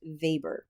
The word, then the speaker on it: Weber: So, for whatever reason, Weber is pronounced Vber, probably because he's German.